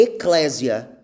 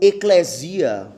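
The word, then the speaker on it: ἐκκλησία: A palavra igreja, né, no original, a pronúncia é eclésia, ou eclesia, ou eclesia, né, depende da dicção da pessoa.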